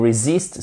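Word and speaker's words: resist: twiziste en anglais you reesist something c'est par résister à ok on résiste quelque chose avec un crazyte et faites attention vous avez votre accentuation sur la seconde syllabe je ne peux pas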